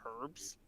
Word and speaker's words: herb: Well, I guess since you've corrected my pronunciation on Aqua, I can happily tell you that it's pronounced herb.